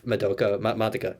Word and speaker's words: Madoka: Um, yeah, no, when they were talking about like remembering like memories of Madoka. That's how you pronounce the name, Madoka.